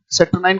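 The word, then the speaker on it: saturnine: तो कोई चीज बहुत गंभीर है, कोई चीज बहुत ज्यादा, राइट, थ्रेटनिंग है, यानी कि वी कैन कॉल इट, सैटर्नाइन को हम कह सकते हैं क्या, ये उच्चारण है इसका, ये इसकी स्पेलिंग है, कोई चीज बहुत ग्रेव है।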